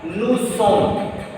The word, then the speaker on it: nous sommes: What I told, whenever you see any French word ending with OS, any French word, if that word is one syllable word made of maximum 3 letters, in that case OS will be pronounced A. Otherwise OS at the final position will be silent.